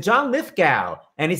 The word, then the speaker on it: Lithgow: I said, John Lithgow. And he said, it's go. And I said, then why the hell is there a W in your name?